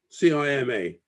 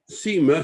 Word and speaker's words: Cima: But you'll notice here that the enlistment clerk has written very clearly Seymour, yeah, and crossed it out. And that was his mother's name. So quite clearly, Cima, C-I-M-A, is pronounced Cima, not Cima.